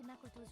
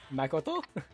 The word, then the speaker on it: Makoto: Makoto? I don't like it, even though I know that that's more correct than the way that we pronounce it. Yeah. Makoto.